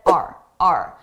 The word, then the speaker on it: our: Notice our. I did not pronounce this as our. I said R. A very reduced sound.